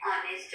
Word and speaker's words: honest: He is an honest man. Here, H is silent. There is no sound of H, that's why it is silent.